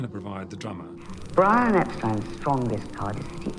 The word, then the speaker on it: Epstein: The White Album sessions in 1968 all Brian Epstein and we'll play a clip of that maybe